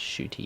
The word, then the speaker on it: Ncuti: to this pronunciation guide, it's Ncuti.